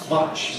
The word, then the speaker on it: much: Much like truck, match like track. much, match.